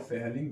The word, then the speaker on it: Fehling: हैं हमारे पास है फेलिंग विलयन सी क्रिया। तो फेलिंग विलयन यहां पर नाम में थोड़ा सा अगर आपको मिस्टेक लगे तो आप घबराइए नहीं। एच जो यहां पर साइलेंट रहता है।